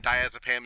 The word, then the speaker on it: diazepam: gel form and that's the diastat so again diazepam is your pronunciation and for those of you that uh